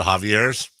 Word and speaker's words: Javier: As opposed to Javier's? No, because that'd be like we were doing Mount John more. But it's pronounced Javier in Spanish.